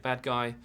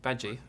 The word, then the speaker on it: Badguy: And they are offered management by a very interesting gentleman called Dominic Badguy, who seems to be, very Badgie. Sorry, not Bad Guy. Badgie. He's spelled Bad Guy, but it's actually pronounced Badgie.